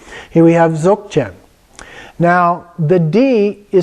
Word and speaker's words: Dzogchen: And the reason is that it's pronounced halfway between a G and a K. So it's Dzogchen. chin, and it's more like a stop than like a hard G. Like it's not zog chin or zok chin, but it's just a stop, zok chin.